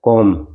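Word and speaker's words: comb: है इसमें हो गया कॉम इसमें बी साइलेंट रहता है इसमें लिसन इसमें टी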